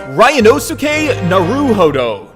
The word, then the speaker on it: Ryunosuke Naruhodo: My name is Ryanosuke Naruhodo. Naruhodo. Ryanosuke Naruhodo. My name is this. you see. Ryunosuke Naruhodo.